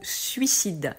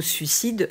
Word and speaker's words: suicide: La prononciation du mot suicide est intéressante. Il faut faire attention à bien prononcer le « i ». En fait, le mot suicide vient des deux mots